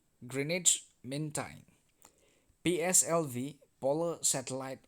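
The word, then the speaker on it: Greenwich: un United Nations GMT green witch meantime pronounced as greenage greenage me time pslv polar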